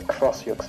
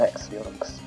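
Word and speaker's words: X-Yux: Yeah, there's an enemy called a Crossyux, and Goombella, when you scan it, she actually puts emphasis that it's a Crossyux and not an Xyux.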